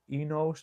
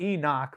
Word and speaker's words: Enosh: It's spelled Enos in the Bible. Enosh, not Enoch, but Enos. Enos.